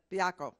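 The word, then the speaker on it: Baiocco: Commissioner Robert Adler, Commissioner Dana Bialko. Am I saying it right? Bialko. Okay, Bialko.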